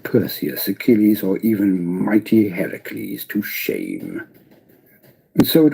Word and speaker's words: Heracles: pronunciation of that because the correct pronunciation of Hercules would have been Heracles they're heraculates it wouldn't been Hercules so big movie companies who've made Hercules movies over the last decade pronounce it wrong just an interesting fact